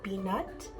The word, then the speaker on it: pi nat: It's called Canh Rau Pi Nat. Canh means soup, rau means green vegetable, and pi nat is how my mom pronounced spinach.